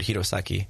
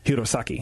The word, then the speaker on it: Hirosaki: The prefecture's called Aomori, and the place I live is called Hirosaki. Hirosaki. Yeah, that's where. See, our that I can is. say. Yeah. Hirosaki, but Aomori just sounds like Italian.